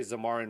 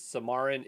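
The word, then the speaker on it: Xamarin: zamarin I always say zamarin wrong for iOS applications samarin is I'm assuming the x is pronounced like an S I don't know why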